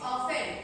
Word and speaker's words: often: Beta, it's often. T is silent. It's often.